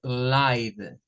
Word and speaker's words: live: Esta pronunciación sí sigue la regla de la Magic E, es decir, la E no suena y esta suena a I y se dice live, live. Y acá nos dice que